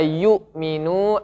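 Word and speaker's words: يؤمنون: ini bacanya apa pak yu'minu yu'minu ya di sini ada Hamzah Hamzah ini dia tidak bergabung dengan badan huruf artinya dia ada dua versi baca ada yang baca yu'minu ada yang baca yummy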